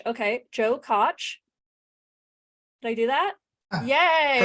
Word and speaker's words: Koch: wrong in the podcast I do rhymes with Notch okay Joe Koch did I do that